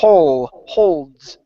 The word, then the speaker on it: holds: the word holds okay when you pronounce the L make sure that your tongue touches the top of your mouth instead of saying ho holds it's h holds okay hold okay give